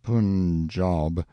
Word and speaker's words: Punjab: day from the Punjab you must pronounce it Punjab the handwriting was excellent